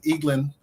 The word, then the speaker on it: Eglin: my name is Eglin uh reading is fundamental uh eaglin uh that's the way it's pronounced no it's not a